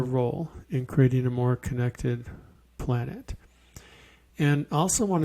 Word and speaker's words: CNCTD: I just finished an app with the help of a lot of people called Connected, and it's spelled CNCTD.